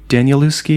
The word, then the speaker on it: Danielewski: Danielewski. Am I pronouncing that right?